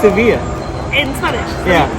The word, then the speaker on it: Sevilla: It's actually pronounced Sevilla. In Spanish? Yeah. Sevilla. Yeah. Sevilla. Yeah. আমাদের পিছনেই হচ্ছে কি ওয়েস্ট হ্যাম স্টেডিয়াম, তো ওখানে খেলা হচ্ছে, এই জন্য চিৎকার আসছে। In English we say Seville.